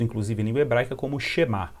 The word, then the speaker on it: Shema: Ele é conhecido, inclusive, em língua hebraica como Shema, ou Shema, como a gente pronuncia em língua hebraica.